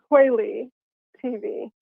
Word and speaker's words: kweliTV: the only one okay so say what is the correct say it like three times quailly tv yes okay now that